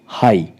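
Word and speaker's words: high: हम जी एचटी के तो पहला हमारा वर्ड है हाई लास्ट में जी एच है हाई एच आई जी एच तो यहां पर क्या है हमारा जी एच साइलेंट रहेगा यहां पे जीएस साइलेंट है खाली हम एच आई को ही प्रोनाउंस करेंगे और ये बन जाएगा हाई हाई का अर्थ होता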